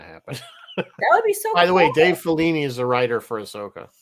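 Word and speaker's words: Filoni: good so that's cool I always think I pronounced that right it's felony isn't it it's felony it's felony say I always say it wrong oh is grogu ever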